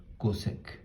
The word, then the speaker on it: cosec: And cosecant, you say as cosec.